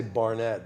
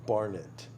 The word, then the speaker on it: Barnitt: So I told everybody, I say Barnett, but it really is technically Barnitt. Barnitt, or it's really an English last name, so it's really Barnitt. But in the States, no one stresses the second syllable.